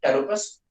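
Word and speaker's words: Pteropus: वैसे तो टेरोपस है, लेकिन पी इज साइलेंट, टेरोपस, बाकी आप एनसीईआरटी से देख लीजिएगा, ठीक है ना।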